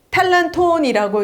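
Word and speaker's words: τάλαντον: 의미하죠 그런데요 재능이라는 단어가 헬라어로는 여러분들 잘 알고 있는 달란트에 탈란톤이라고 이제 헬라어는 발음을 하지만 달란트인 달란트가 하나의네 최대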